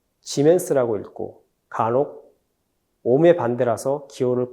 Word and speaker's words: 지멘스: 단위는 s 지멘스라고 읽고 간혹 옴의 반대라서 기호를 거꾸로 쓰고 철자도 거꾸로 써서 모라고 읽기도 합니다.